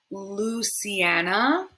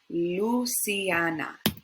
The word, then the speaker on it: Luciana: together paulina and last instead of luciana we would remember that l with your tongue on the roof of your mouth luciana luciana all right let's continue